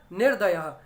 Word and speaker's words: निर्दय: यहाँ नहीं है, तो यहाँ व्यंजन ही है उसके बाद भी द, तो इसीलिए क्या है, र आधा ही उच्चारण होगा, शब्द बनेगा निर्दय।